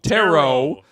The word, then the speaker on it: Tarot: It's just pronounced Tarot. as in the cards.